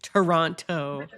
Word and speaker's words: Toronto: Toronto. Yeah. Like, turn. Come from Toronto, and I eat it. He doesn't pronounce the T.